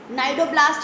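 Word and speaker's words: cnidoblast: बहुत इंपॉर्टेंट चीज़ है कि नाइडेरिया नाम इसीलिए है क्योंकि यहाँ नाइडोब्लास्ट या नाइडोसाइट सेल्स होती, सी साइलेंट है इसलिए नाइडोब्लास्ट या नाइडोसाइट सेल्स होती हैं।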